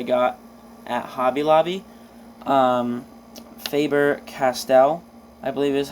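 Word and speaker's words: Faber-Castell: Um, Faber Castell, I believe is how you pronounce that.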